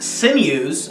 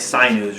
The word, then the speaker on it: Sinews: we have Morata with sinews I kept mispronouncing it for the longest time I keep saying I kept saying like Psy news or something which I